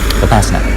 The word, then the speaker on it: Vipassana: Vipassana is how the Americans say it.